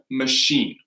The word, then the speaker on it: machine: So that we say that with a SH, a soft sh, machine.